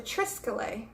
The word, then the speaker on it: triskele: did I'm sorry dropping the ball but the triskele it's spelled a little funny it's TR is ke